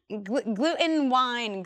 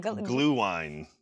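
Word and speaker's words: Glühwein: Glue wine, says Hodgelet in the chat. Glue wine. I'm sorry I butchered that. Thank you for educating me on how to pronounce that correctly.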